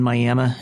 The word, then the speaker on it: Miami: missionary was two old mining communities globe in Miami Arizona not spelled like Miami but pronounced miam and they will